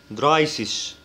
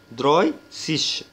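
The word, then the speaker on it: dreißig: لاحظ إن هنا في A E وده بيتنطق I، لسه شرحينها أهو. والحرف اللي بعده ده كأنه دبل S بالظبط، ده اسمه استت يعني زي الدبل اس كده بالظبط، تمام؟ فبننطق الكلمه دي دراي سيش، دراي سيش.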